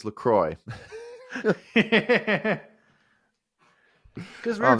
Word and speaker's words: Lecrae: I mispronounced it. It's Lecrae.